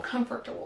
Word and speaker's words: comfortable: So what we do in American English, we kind of reduce the length of the word syllabically and we'll say comfortable. So it's not pronounced at all like it's written, but that's just the way it is.